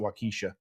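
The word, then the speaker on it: Waukesha: wakisha NOA no wakaa we pronounce it wakisha silly we love all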